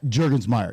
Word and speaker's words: Jurgensmeyer: man of the hour the guest Mr J jurgensmeyer now did I pronounce that right you did you name all